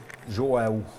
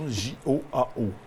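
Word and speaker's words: João: Donc, une photo en plein travail avec Joao. Je ne suis pas sûr de la prononciation. J-O-A-O. Ah, C'est J-O-A-O.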